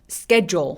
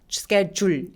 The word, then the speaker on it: schedule: 스케줄 아니고 schedule 할 때 L 마지막 소리가 약간 다크 L이라서 schedule 이렇게 너무 열심히 리을 발음을 하진 않아요.